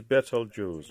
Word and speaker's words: Betelgeuse: The correct for pronunciation is Betelgeuse or Abtaljosa as in Arabic.